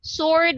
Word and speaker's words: sword: Sword, we don't actually pronounce the letter W.